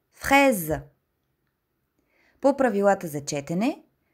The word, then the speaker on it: fraise: Комбинацията от двете букви А и И прави звукът Е. Като например une fraise – ягода. Изговаряме отворено Е в думата. Fraise.